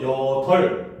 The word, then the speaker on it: 여덟: 그다음 여덟 같은 경우도 여덜, 리을 비읍도 대표음은 리을입니다.